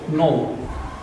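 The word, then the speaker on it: know: একটা বিষয় বিষয় হচ্ছে নো হবে হবে না কোন হবে এটা নিয়ে আমাদের একটা চিন্তা ভাবনা তো আমরা ছোটবেলা থেকে মুখস্ত করছি নো তাই নো বলি কিন্তু যদি প্রশ্ন করে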